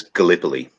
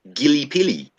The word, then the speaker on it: Gallipoli: you want to say it like a retard, Gillipili.